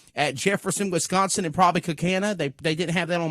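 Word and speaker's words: Kaukauna: It's pronounced Cookana.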